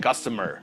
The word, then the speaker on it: customer: Yeah, estaba pensando que debemos repasar la pronunciación de customer, right? Customer. Repeat with me. Customer. Cuidado con esa U, no suena como U, suena como right? Customer. Okay, now, that's one good lesson to learn for the day.